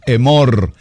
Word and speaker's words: Emor: con el tema emor Escríbalo así como como como se pronuncia emor emor que nos traduce